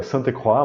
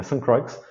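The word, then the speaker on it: Ste. Croix: é o Geoffrey de St. Croix, alguns pronunciam ainda Sainte-Croix, mas ele é inglês, né? St. Croix, que publica em 1981 o livro A Luta de Classes no Mundo Grego Antigo.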